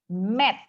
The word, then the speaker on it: met: Padahal kata itu dibacanya adalah met, karena huruf E-nya cuma satu. E-nya cuma satu nih.